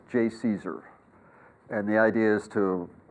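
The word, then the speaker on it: JCESR: pronounce otherwise you don't exist so that is pronounced J Caesar and the idea is to you know strike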